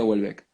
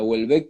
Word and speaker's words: Houellebecq: Porque, por ejemplo, Michel Houellebecq, no sé si se pronuncia, yo creo que se pronuncia Houellebecq, que es uno de los escritores que más me gustan de los últimos tiempos.